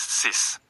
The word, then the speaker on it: six: Six is sis. The X sounds like an S, not KS.